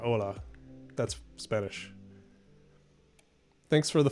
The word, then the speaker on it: hola: them um greetings from so you just say hola is how you say okay so it's very similar just um drop the h there that's cool okay all